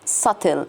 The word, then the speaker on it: subtle: references and allegiance so this is subtle subtle the b is silent subtle religious references and